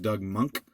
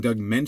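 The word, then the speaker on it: Doug Moench: Doug mentions name is actually pronounced Doug monk but since I've been saying Doug mint since I was 11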